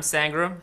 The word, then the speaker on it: Sangram: Scott for having me so I'm sangram and I think my name kind of rhymes with seram so maybe that will